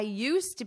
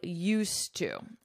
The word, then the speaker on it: used to: in the past I used to I used to notice my pronunciation you don't hear this D at all I used to I